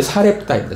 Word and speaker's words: 사렙다: 자, 근데 사르밧 과부가 음, 오늘날이 신약에서는 사르밧 그러지 않고 사렙다라고 해요. 그 헬라어식 히브리식 발음은 사르밭이고 헬라식 그 단어는 어이 사렙다입니다.